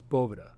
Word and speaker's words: Boveda: I Is that how you pronounce it? yeah that's very And good. it's Boveda.